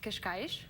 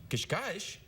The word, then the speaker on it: Cascais: I grew up in a town called Cascais. Cascais?